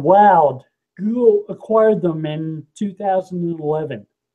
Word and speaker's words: Wowd: That was a company called Woud. Google acquired them in 2011. Wild, Yeah. like wild Started doing hummingbird too then, right? It was supposed to rhyme with crowd. It was WOWD.